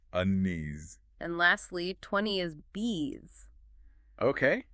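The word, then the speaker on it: बीस: And lastly 20 is bees. Okay. And sounds just like the English word for those buzzing insects.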